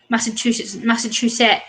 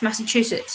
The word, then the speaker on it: Massachusetts: Like, I used to pronounce things like Massachusetts, and they're like, "No, it's Massachusetts."